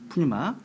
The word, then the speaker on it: Pneuma: 푸뉴마. 그래서 여러분 푸뉴마가 영어로 이제 Pneuma거든요. P가 발음이 안 됩니다.